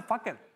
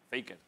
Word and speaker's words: Faker: tuvieses una partida de… Se pronuncia fucker. No me des susto, joder, Ibai, que… Fucker. Faker. Fucker. Fucker. Se llama faker.